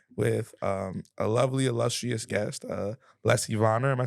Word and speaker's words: Lessie Vonner: But we are here with a lovely, illustrious guest, Lessie Vonner.